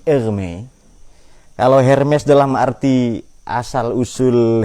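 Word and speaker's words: Hermès: cuma beda cara bacanya Ya kalau ini merek tas Perancis Hermes ini er Me kalau Hermes dalam arti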